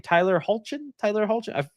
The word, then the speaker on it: Tyler Hoechlin: But I also even like, I forget his name, Tyler Hoechlin. That's how you pronounce it.